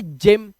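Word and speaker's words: gym: exercise करने चाहते हो इसे गिम नहीं इसे पढ़ेंगे जिम क्या पढ़ेंगे जिम इसी तरह से यहां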